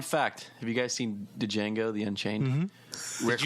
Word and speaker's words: Django: This is Django. But why do you want that It's redone? kind of like your sex life. The D is silent.